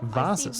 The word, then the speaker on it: vase: Vases. I see one more vase, I'll be sick. I never know how to pronounce this word.